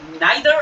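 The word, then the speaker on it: neither: first question কি আছে দেখো ফার্স্ট কোশ্চেন রয়েছে নাইদার অফ দেম এটাকে নাইদারও বলতে পারো নিদারও বলতে পারো হ্যাঁ ভয়ে মানে ভাবার কিছু নেই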